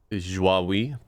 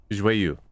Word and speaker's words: Joyeux: The Joie. Joie. The like what? Canard. You make me look up how to pronounce it again. I'm pretty sure I got it right. Joyeux. I was wrong.